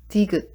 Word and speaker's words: 디귿: So it makes sounds like D, so it's 디귿.